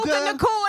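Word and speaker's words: Puka Nacua: Puka Puka Nakua.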